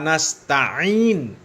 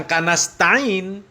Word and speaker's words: نستعين: Ya, Iyyaka na'budu wa iyyaka nasta'in, bukan kanasta'in.